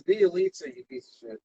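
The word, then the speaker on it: Bjelica: Niggas is calling him Balenciaga. Of course. And, you know, it is funny that we can pronounce Balenciaga. Balenciaga for three. It's Bielitsa, you piece of shit.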